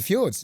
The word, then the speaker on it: fjords: Oh, a cruise to the fjords. Yes, although it's pronounced fjords.